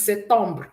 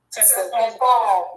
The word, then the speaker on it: septembre: September is septembre. Can we say that? Septembre. Good. You will see that the P is silent. Okay.